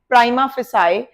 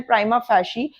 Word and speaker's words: prima facie: ज्यादा यूज होता है, इसे बहुत सारे लॉयर्स इसे प्रोनाउंस करते हैं प्राइमा फेसाई, पर इसका राइट प्रोनाउंसिएशन है प्राइमा फैशी।